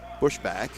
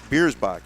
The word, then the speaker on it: Biersbach: It'll be chipped into the zone by Connor Bushback. I have a pronouncer here and I seem to have lost it. Biersbach, excuse me.